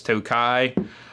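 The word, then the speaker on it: Tokaji: a Tokai finish uh it's spelled to Kaji but it's Tokai this is a straight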